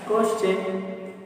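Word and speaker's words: question: होना चाहिए, एस, तो टी के पहले क्या है, एस, तो इसका प्रोनाउंसिएशन क्या हो गया, क्वेश्चन।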